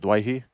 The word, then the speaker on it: Doueihi: They'd pronounce it Doueihi.